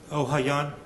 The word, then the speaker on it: Ohayon: Ohayon, Ohayon, okay. it's French.